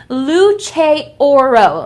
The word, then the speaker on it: Luce Oro: So this is actually pronounced Luce Oro, okay? So in case you didn't know, Luce Oro, okay? Very, very nice. It translates to light of gold in Italian.